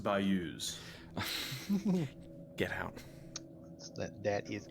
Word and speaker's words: bayous: It's pronounced bayous.